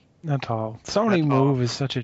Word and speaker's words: Natal: How do you pronounce that? Natal.